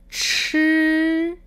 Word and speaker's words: 吃: En contraste a esta pronunciación, tenemos la CH que se pronuncia con aire, 吃, 吃.